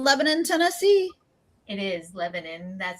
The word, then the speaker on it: Lebanon: It's Lebanon is how everywhere else would say it, but they call it Lebanon here.